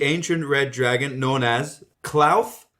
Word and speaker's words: Klauth: Okay, I'll open up the dragon discussion with the ancient red dragon known as Klauth. Klaus. Klauth. Oh, I Klauth with the list. That's what I led into the German pronunciation.